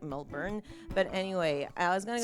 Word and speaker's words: Melbourne: thinking maybe moving interstate, like going to Melbourne, as the Americans say, when it's actually like Melbourne.